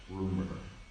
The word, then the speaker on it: RMR: And it's RMR, but it's like rumor. That's how you say it.